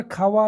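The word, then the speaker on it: خواہ: इंसान के गिर्दोपेश खा यहां पर खावा लिखा जाता है लेकिन खा पढ़ा जाता है क्योंकि यह वाव मादुला है जिस तरीके से और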